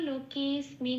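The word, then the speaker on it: লোকেঽস্মিন্: তাহলে আমি কি বলবো, লোকেস্মিন বলে একটু টেনে দেবো।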